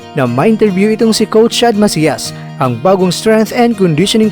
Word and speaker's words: Chad Macias: Mga Kakwento, ang tamang pagbigkas po nito ay Chad Macias. Babasahin daw natin ito sa wikang Espanyol dahil ang kanyang mga magulang pala ay nagmula ito sa San Sebastian, Spain.